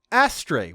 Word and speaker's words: Astray: And his last name is pronounced Astre, which, yep, technically that's an accurate reading of the Japanese, but I feel like it wouldn't be spelled like the English word astray if it wasn't supposed to be pronounced like the English word astray in English.